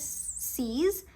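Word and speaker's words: six: Okay, now you have to remember that 16 is a little different from 6. 6 is C's, 16 is says.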